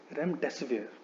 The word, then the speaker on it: remdesivir: The right way to pronounce this word is remdesivir.